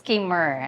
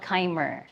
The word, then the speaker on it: Khymer: of the public, how is your first name pronounced? Ke. It's Kurr and. All right. It's not Kimer.